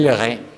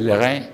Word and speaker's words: Leray: Bueno, ahora vámonos con Monsieur Leray. Se pronuncia Leray en francés.